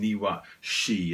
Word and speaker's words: Niwashi: can let's start with the name niwa shi and i'm saying it in those two house because in japanese it's actually two kanji that's how you say japanese